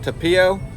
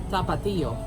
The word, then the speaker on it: Tapatio: It's got this, pronounce that sauce there, is it tapio? Uh-huh. Tapatio.